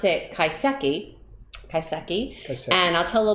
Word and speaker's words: kaiseki: uh are doing is actually it's it's they pronounce it kaiseki kaiseki and i'll tell a little bit about